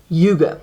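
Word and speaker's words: hygge: honest in Yuga so this is how you pronounce this word Yugo now Yuga is you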